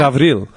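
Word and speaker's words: Γαβριήλ: It's the Greek pronunciation of Gabriel. How's that? Gavril. Right?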